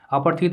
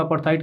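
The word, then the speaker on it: apartheid: अपार्थित अपार्थाइड दोनों इसके pronunciation सही है। रिजीम का मतलब शासन इन इस कंट्री, तो उनके देश में अपार्थाइड की पॉलिसी, ऑफिशियली ये पॉलिसी फॉलो की जाती थी।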